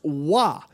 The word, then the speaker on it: Roy: the way it's pronounced wah he's a he's a french canadian person yes it's spelt roi